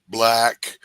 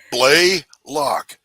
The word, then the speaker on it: Blalock: mispronounce my name, and it's pronounced exactly like it looks. But all my life, Blalock, Black, but dude, Blaylock, just like it's fucking spelled.